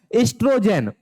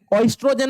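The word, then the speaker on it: estrogen: एस्ट्रोजेन। ओस्ट्रोजेन मत पढ़ना बच्चा। ओ यहां साइलेंट होता है।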